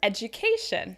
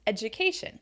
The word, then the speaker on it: education: it should be sincere another word education right a common word that we use all the time and the good thing is that tion words have a pattern that you can recognize education it's stress on the syllable before should so this adds